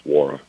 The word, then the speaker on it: Nwora: Well, the N is silent, just for reference. It's Wara.